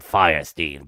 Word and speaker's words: Fierstein: Yeah, it's very strange, the fact that Harvey Fierstein pronounces his name Firestein, but spells it W-E-I-N.